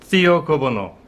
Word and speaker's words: Thea Gouverneur: 오늘은 테어 거버너 킷에 대해서 살펴보겠습니다. 테어 거버너 또는 이제 티어 거버너 뭐 이렇게 발음할 수도 있겠죠.